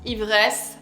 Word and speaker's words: Ivresse: So pronounce Ivresse.